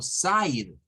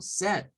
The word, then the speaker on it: said: Y eso no se pronuncia como side, se pronuncia como said.